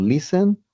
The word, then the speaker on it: listen: Allí recordemos que la palabra listen esa t se va esa mute t drop letter we can say also, es decir, se va, no la pronunciamos cuando estamos hablando.